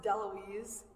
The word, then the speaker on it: Daloisio: It's actually pronounced Daloisio. A couple silent vowels on the end. So my name is Daloisio.